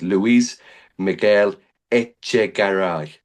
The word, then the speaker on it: Luis Miguel Echegaray: It's Luis Miguel Echegaray.